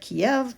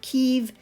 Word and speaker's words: Kyiv: Before I would have said Kiev, but I think that the pronunciation is actually Kyiv, and that's my answer, and we'll see if I'm correct.